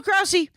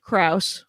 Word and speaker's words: Krause: It was with Phil Krause, who I pronounced Krause. Oh. And then he corrected me and said it was Krause.